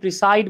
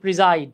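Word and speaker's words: preside: আমরা অনেকে এটাকে প্রিসাইড বলি, উচ্চারণ হচ্ছে প্রিজাইড। হ্যাঁ, প্রিজাইড ওভার মানে হচ্ছে গিয়ে সভাপতিত্ব করা।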